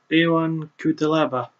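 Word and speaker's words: Ion Cuțelaba: For our next match, we continue the trend as Misha Serkinov, sorry, I almost messed up his name, fights newcomer Ion Kutelaba. Hang on. I did pronounce his name right.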